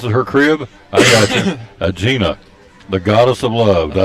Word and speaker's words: Aegina: Aegina, yeah. Aegina.